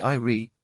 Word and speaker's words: Ire: Yes, the Eyrie, Preservation said, pronouncing it in a slightly different way. 3 letters. I-R-E.